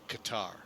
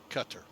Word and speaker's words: Qatar: DOA in uh uh Qatar cutar Qatar cutar katar cutar potato potato tomato tomato however you want to say things Louisville lville gotta love